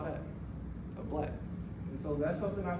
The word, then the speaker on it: BLK: Now, if I was to ask you guys to pronounce this as one word, how would you say it? Black. Exactly.